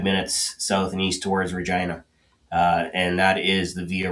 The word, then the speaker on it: Regina: south and east towards Regina. And that is the Via Rail stop in this part of Saskatchewan. So, Nice. Regina, that's the town that rhymes with fun.